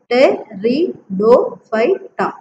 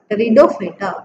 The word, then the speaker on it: pteridophyta: Then pteridophyta, P is silent here. So T-E is T-R-I, R-D-O, Do, phyta, pteridophyta, pteridophyta.